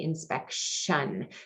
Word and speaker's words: inspection: So the sounds that it makes, because we don't say inspection, we say inspection. So we get that sh sound there with that TI, which is our new spelling pattern.